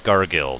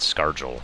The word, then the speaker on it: Scargill: intentionally by the way it's pronounced Scargill not scarel or something like that in case anyone was